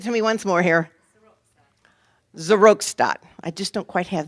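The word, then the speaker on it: Seroxat: to Prozac, and I did get the right pronunciation here, Zeratox, right? Okay, give it to me once more here. Zerostat.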